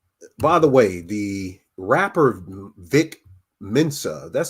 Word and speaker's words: Vic Mensa: By the way, the rapper Vic Mensa, that's how you pronounce his name.